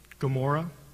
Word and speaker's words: Gomorrah: in Hebrew it's OMA the letter is pronounced in the back of the throat and it's that's why it gets transliterated sometimes with a G in certain books like Almora Gomorrah it's actually begins with